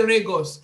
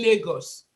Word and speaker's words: Lagos: For instance, I know that some of us have issues with pronunciation of R and L. For instance, you're going to say Lagos and you say Regos.